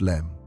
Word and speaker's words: LM: The lunar module the LM, pronounced LEM.